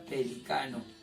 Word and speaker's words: pelicano: Profe, en pronunciación, acá dice pelícano, con énfasis. Acá dice pelicano.